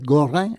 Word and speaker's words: Gorin: Aquí tienen otro apellido europeo de origen francés, en este caso Gorin, que es Goran en eh un poco en en la pronunciación correcta, ¿no?